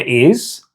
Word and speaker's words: hay: Now, remember that the H isn't pronounced in Spanish.